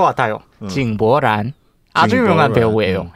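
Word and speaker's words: 井柏然: 중국 발음. 저 알 것 같아요. 징보란.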